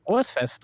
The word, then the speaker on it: Frohes Fest: Rohos Fest. that how you say it? Frohes Fest euch.